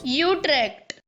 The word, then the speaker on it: Utrecht: being worldly give me a dutch guy saying you trek for god's sake how do you say it i know it's not that in dutch utrecht that's it that's the one that's the official pronunciation sorry netherlands i'm gonna